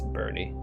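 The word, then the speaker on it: Burne: the game so far call him burn because that's what I assumed how it's pronounced it it's it's Bernie I'm see I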